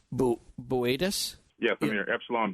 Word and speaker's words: Boötes: It's spelled Bootes, but it's Boötes? Yes, I'm here. Epsilon Boötes.